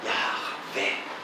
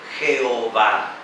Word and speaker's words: Yahvé: le revela su nombre, el que es, ¿verdad?, Yahvé, que es como un aliento que no tiene una palabra formal, sino que es como la exhalación, ¿verdad?, o inhalación, exhalación del aliento, ¿verdad?, Yahvé.